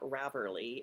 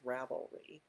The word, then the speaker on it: Ravelry: it that way anymore it's also not raverly it's ravelry uh just a few pet